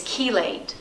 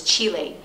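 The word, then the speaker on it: chelate: a sensitive digestive system or even better is kelate which is or some people pronounce it as Chile c h e l a t e um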